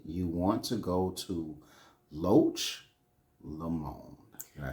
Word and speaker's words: Loch Lomond: And I advise everyone, when you go to Scotland, you want to go to Loch Lomond.